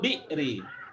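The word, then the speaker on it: بئر: jadi hamzahnya bacanya gimana? Enggak. Seperti apostrof kalau dalam bahasa tulisan Latin.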